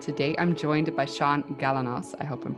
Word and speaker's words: Galanos: into him and today i'm joined by sean galanos i hope i'm pronouncing your last name correctly you nailed it